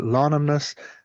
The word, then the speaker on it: Lánamnas: So I will spell that lonomus l a father n a m n a s lonomus.